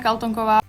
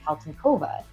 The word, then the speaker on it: Kaltonková: And if you listen to the way she pronounces her name, it's Kristina Kaltonková, which might come as a surprise to you because a lot of broadcasters are calling her Kristina Kaltonkova.